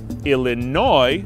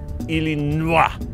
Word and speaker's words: Illinois: Illinois is not "Ill-eh-NWA" but we still don't pronounce the "s", like the city of Des Moines.